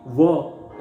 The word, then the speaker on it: were: हाँ friends, was वर India में हालांकि वेयर बोला जाता है WERE, लेकिन एक्चुअली वर ऐसा उसका एक प्रोनाउंसिएशन होता है।